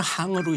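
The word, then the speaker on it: 行: 그 행이 원래는 항으로 읽어야 됩니다.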